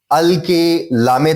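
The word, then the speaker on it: القلم: हमने अल लगाया क्योंकि कलम का जो काफ है पहला हर्फ है वो हरूफ कमरी है, इसलिए अल पे हम अलामत सुकून लगा देंगे.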